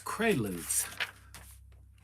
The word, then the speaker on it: Quaalude: How do you pronounce it? There. Quaalude. It's Quaaludes. It's Quaaludes.